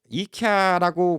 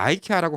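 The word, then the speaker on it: IKEA: 원어는 김치인데 다른 나라에서 기무치라고 발음한다고 그걸 맞는 거라고 다른 나라 가서 그거 갖다 네 발음이 틀렸어 가르쳐 준다 그거는 솔직히 이케아라고 그걸 갖다가 아이케아라고 가르쳐 준다 이거는 진짜 뭐 오히려 미국에 있는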